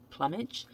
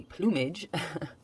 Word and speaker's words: plumage: rape or pillage but i had said plummet um it's actually plumage just my mispronunciation but plumage is basically